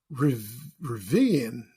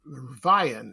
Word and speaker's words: Rivian: It sells that, and the place is called Rivian, or Rivian. It's spelled Rivian.